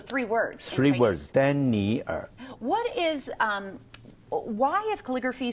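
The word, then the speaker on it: 丹尼尔: Okay, in Chinese we'll pronounce for three words. Dan ni er. Oh, that's why. So three words. Three in words. Dan ni er.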